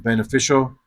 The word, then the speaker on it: beneficial: Emphasize the sh and beneficial and slow down and pronounce all four syllables of reiterate.